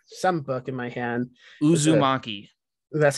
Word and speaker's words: uzumaki: listening i'm holding some book in my hand uzumaki that's how you say it yeah it means